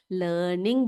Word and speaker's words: learning: लर्निंग बोलते हैं। ठीक है, लर्निंग जब बोलेंगे तो यहाँ पर आर जो है ना बेटा, ये साइलेंट होता है। लर्निंग नहीं पढ़ते हैं हम, इसको लर्निंग पढ़ते हैं।